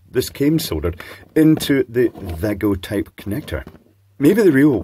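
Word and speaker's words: Wago: suitably trashy Chinese uh wgo clone or Vago clone if we want to pronounce it correctly so so I shall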